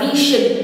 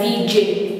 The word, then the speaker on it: vision: Mình không đọc là vision, không đọc là vision, mà là vision, vision.